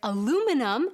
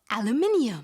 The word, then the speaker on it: aluminium: In addition, there's aluminum in American English, whereas the British word has an extra I in there, which is why it's pronounced aluminium.